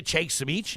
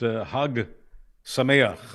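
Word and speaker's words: חג שמח: I think it's pronounced Hag Sameach. Okay, Just so Hag as in Hag, close enough.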